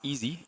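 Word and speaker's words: EEZ: It's pronounced easy, e e z.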